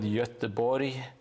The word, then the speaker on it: Göteborg: But the Swedes call it Göteborg, and in Norway it's Göteborg. So there are many ways to pronounce it.